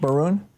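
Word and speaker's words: Moroun: You already covered um the part about um the Maroon family meeting with Is that how it's pronounced? Maroon.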